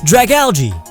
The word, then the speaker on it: Dragalge: Dragalge, like algae, because it looks like algae.